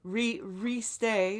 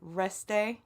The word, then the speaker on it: restez: Stay home, re-stay, which is not how you say it. I'm not even gonna fault him for the fact that he can't say restez, but at least say it restez, not restay.